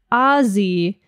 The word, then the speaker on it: Aussie: You pronounce it Aussie with a hard Z.